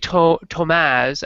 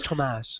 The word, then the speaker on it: Tomaz: So, okay, so Dave Tomaz, actually, which is the way you pronounce it, apparently. I butchered it like every other we all butcher it. Dave always answers to whatever we call him, so it's pretty funny. But it's Tomaz. Apparently, it's Portuguese. Portuguese and Polish.